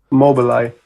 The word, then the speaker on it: Mobileye: Trabaja para Mobileye, ¿cómo se pronuncia? Mobileye.